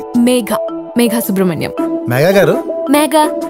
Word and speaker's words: Megha: - Megha. Megha Subrahmanyam. Miss Megha... It's not Mega.. Me..Gha stress on Gha.